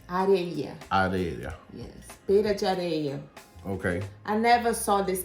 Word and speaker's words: areia: Sand pear in Brazil is a pera de areia. Jadeira? Areia. Areia. Yes, pera de areia.